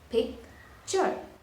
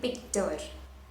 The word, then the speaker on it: picture: Picture. But do you see This is making the sound chur. It's not tur. I'm not saying picture. It's picture, right?